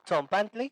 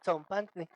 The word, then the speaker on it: tzompantli: Tenemos TS, que no es del español, pero es muy fácil de hacer porque es el mismo que tenemos en la palabra pizza, nada más que acá la tenemos en palabras como tzompantli.